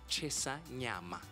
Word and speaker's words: Chisanyama: And how do you pronounce it? Chesanyama.